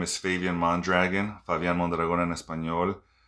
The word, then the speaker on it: Favian Mondragon: hi my name is fabian mondragon fabian mondragon espanol people also call me fabian which is very close to the pronunciation in spanish um you can call